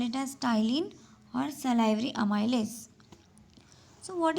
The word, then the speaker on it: ptyalin: P is silent. You should call it as ptyalin or salivary amylase.